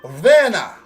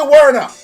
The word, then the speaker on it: Werner: Timo Werner, or Timo Werner, as a lot of people will say. Do not say Werner. Do not say Werner. His name is Timo Werner.